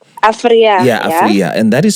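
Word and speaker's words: Afryea: So your name is Afria, right? Afria. Yeah, Afria. And that is spelled A-F.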